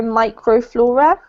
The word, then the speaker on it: microflora: This one's micro, not micro, microflora. Microflora. Mm-hmm. Yep, this little prefix is always pronounced micro in English. So you have microphone, microscope, all those kind of things.